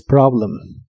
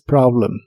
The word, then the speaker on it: problem: que significan este problema la o de Problem se pronuncia como una a profunda this Problem this Problem y usaremos la palabra